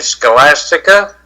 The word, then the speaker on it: Scholastica: Today is the feast of Saint Scholastica.